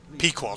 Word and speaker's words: Pequod: years obviously after World War two is ended Pequod that's how it's pronounced good job no sir nasty no try